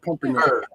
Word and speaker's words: Pumpernickel: introduce you as Eric Pumpernickel. Pumper. Pumper. The nickel. Pump. Emphasize on pumper. Emphasize on pumper. It's terrible. Pumper. I try to keep things above board. I really do. Pumper rhymes with humper.